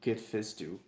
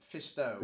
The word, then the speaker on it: Fisto: I In a just always love when you pronounce Kid's name Kid Fistu. It's Fisto, isn't it? Yeah. yeah. I believe it's Fisto, but No, you know why I say you always say Fisto?